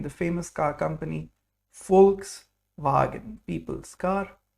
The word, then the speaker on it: Volkswagen: It's pronounced like V in German. So there's a special sound here. V is V, like fur. In the famous car company, Volkswagen, people's car, Volkswagen.